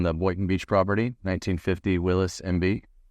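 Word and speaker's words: Willys: got 1950 on the whiton beach property 1950 Willis MB it's w l y s really called Willis but Los Willis in columia because that's how you pronounce it and so that's why we're Willie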